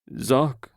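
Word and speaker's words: Seoc: Zock, like shock, but more of a Z than an S.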